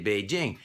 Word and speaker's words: Beijing: by pronouncing the word so if you see beijing you're going to say beijing except there are some people who are convinced that every j in chinese should be pronounced zhao even though we don't